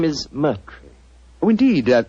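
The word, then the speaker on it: Murtry: Uh, my name my name is Merry.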